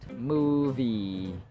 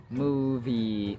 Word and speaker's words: movie: double u sound mo As in movie move movement spoon tune but not in mother or month yada yada Mariano Mariano